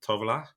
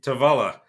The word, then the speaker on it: Tovala: co-founder and CEO of tovola I screwed it up again there you go see tavala uh an amazing company